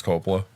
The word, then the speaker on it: Coppola: Coppola? Coppola. Coppola, yeah. I mispronounced his last name because You it did.